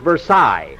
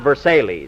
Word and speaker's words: Versailles: Mary, that's that's pronounced Versailles, not Versailles.